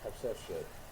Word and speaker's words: Hatshepsut: I actually know how to spell that too. Hatshepsut.